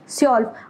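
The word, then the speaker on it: zwölf: ये हो गया स्योल्फ, स्योल्फ। अभी ना आप ये समझ लो कि W साइलेंट है सपोज, तो इसको स्योल्फ बोला जाएगा, हल्का सा बोला जा रहा है स्योल्फ।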